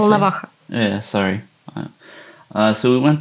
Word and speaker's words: Volnovakha: All right, so we went to Valhalla, to the hospital. Is that how you say it? Volnovakha.